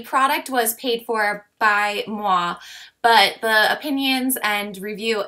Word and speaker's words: Muwae: her company's name is moi and it actually spells like this m-u-w-a-e but pronounce Moi like you're kissing and their motto or